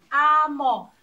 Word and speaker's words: amor: 阿摩。